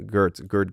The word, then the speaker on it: Geert: or I'm pronouncing his name in the Dutch way, Gert Groot. That's how the English community calls him.